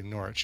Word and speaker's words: Norwich: I guess you'd say Norwich. You wouldn't pronounce the W in the UK.